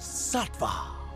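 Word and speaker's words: Saatva: pressure and that place is this website it's pronounced sattva in case you were wondering new alka-seltzer plus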